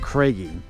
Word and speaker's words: Craggy: me to the KY actually they pronounce it craigy I think it's craigy but he says craigy Dome you see it's